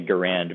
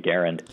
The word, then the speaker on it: Garand: himself and his family pronounced it with the emphasis on the first syllable so um in deference to that i i have been pronouncing it garen it's like saying larry